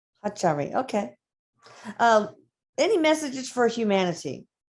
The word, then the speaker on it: Ahatari: how in your language, how would you say the name of your race? Atari? Would you say it like that? Okay, this is how they're saying Hachari. Hachari.